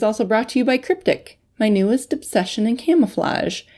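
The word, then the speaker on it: Kryptek: Cryptic has a unique spelling. It's K-R-Y-P-T-E-K. Cryptic with a K. Cryptic was derived from the words kryptos and technology.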